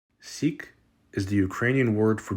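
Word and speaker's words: сік: this word letter by letter s e Ka Sikh seek is the Ukrainian word for Jews seek the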